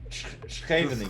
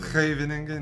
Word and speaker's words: Scheveningen: Have you tried to pronounce it the Dutch way? Scheveningen. Scheveningen, yeah.